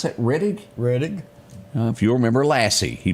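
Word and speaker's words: Rettig: As we go back to remember, Tommy, do you pronounce that Reddig? Reddig.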